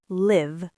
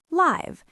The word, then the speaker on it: live: In the first sentence, it's live. In the second, it's live. Same spelling, different sound, different meaning.